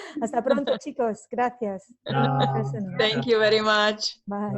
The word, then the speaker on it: Köszönöm: Köszönöm. Köszönöm. Wow, okay. Good Köszönöm pronunciation.